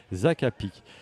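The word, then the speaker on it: hakapiks: On on prononce pas le S. On prononce pas le ex. Alors je dis le mur le murmur des acapic.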